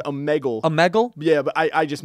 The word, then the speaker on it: Omegle: But I call it Omegle. Omegle. I think it's called Omegle.